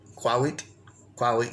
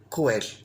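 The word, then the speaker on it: cuahuitl: Remember, we changed the TL to D voice L, cuauhitl. But it's also sometimes pronounced just as an L, cuauhitl. But the tendency is for this word to be reduced to cuel, or cuil.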